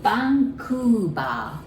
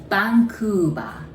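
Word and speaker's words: バンクーバー: home beautiful place vancouver we don't have v sound in japanese so we pronounce it like b okay so bangkuba bangkuba all right so how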